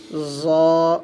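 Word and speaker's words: ظ: এটার নাম হয়ে যাবে জ, জোয়া হবে না। অনেকে কিন্তু আমরা জোয়া বলি, জোয়া বলা যাবে না, এটার নাম হবে জ, জ। শক্ত করে পড়বেন, ত, জ।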